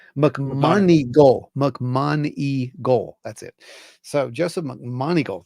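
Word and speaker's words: McMoneagle: McMonigal.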